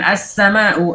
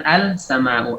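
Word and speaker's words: السماء: Kemudian as-sama'u, asalnya al-sama'u, al-sama'u, karena mengucapkan lam izhar di sini sulit, maka lamnya diidghamkan. Jadi as-sama'u, bukan al-sama'u. Al-sama'u dibanding dengan as-sama'u, as-sama'u lebih mudah diucapkan.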